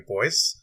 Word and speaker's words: Du Bois: cover now as to the pronunciation of his name he actually did prefer the pronunciation to boy he did prefer this